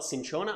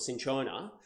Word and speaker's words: cinchona: in Shona as well cinchona I think I'm pronouncing that right that's in corner it's the way I've been taught to pronounce it but essentially that is